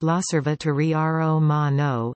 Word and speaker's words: L'Osservatore Romano: L'Osservatore Romano, pronounced L'Osservatore Romano, Italian for the Roman Observer, is the daily newspaper